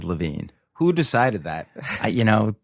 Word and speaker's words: Levien: I'm here with David levian David LaVine let's just go right off the top there it's spelled Levan yeah I know l v ien but it's David LaVine who decided that you